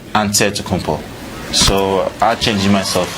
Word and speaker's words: Antetokounmpo: for giannis you say with the nc like antetokounmpo so i changed myself like i don't think